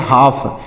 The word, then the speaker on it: half: CALM, HALF, तो इसे क्या पढ़ेंगे, इसको हाल्फ नहीं पढ़ना है, HALF, यहाँ पर यल साइलेंट है, इसे पढ़ेंगे हाफ, क्या पढ़ेंगे, हाफ, HALF,